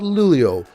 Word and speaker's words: Luleå: a short flight North to a place called lulio which is the gateway to Swedish lap yes that's how it's pronounced from there after a short brief we